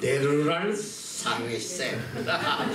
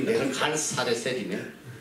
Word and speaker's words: 네르갈사레셀: 그 다음에 왕이 네르랄사레셀. 발음도 뭐야 저기 네르갈사레셀이네.